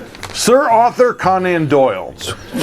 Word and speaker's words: Conan: Sir Arthur Conan, how do you say it? Conan.